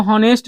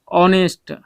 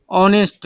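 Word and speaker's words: honest: अब देखिए ऑनेस्ट के साथ में यहाँ पे मैन है, अब इसको हॉनेस्ट नहीं बल्कि हम लोग पढ़ते हैं ऑनेस्ट, ऑनेस्ट यानी अ से है तो स्वर से शुरू है, तो आप क्या लगाइएगा, एन लगाइएगा।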